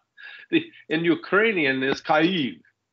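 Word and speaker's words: Kyiv: the war in cave they keep talking about Keys yeah I've noticed that with heart Eve and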